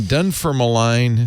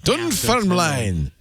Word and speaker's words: Dunfermline: So he was born in Dunfermline, Scotland, which I'm sure I'm saying wrong. I think you didn't pronounce that right. Dunfermline.